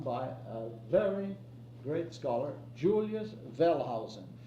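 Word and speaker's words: Julius Wellhausen: Well, it goes back to a work that was done by a very great scholar Julius Velhausen. Pronounce that W as V because he was a German and they pronounced W's as V.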